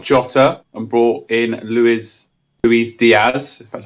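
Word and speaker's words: Luis: i took out jotter and brought in louise louise diaz that's how you say his name i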